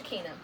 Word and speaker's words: Shekinah: And all of a sudden, I hear, "Hey, Shekinah." First, it's pronounced Shakina, but I know that it looks like Shekinah.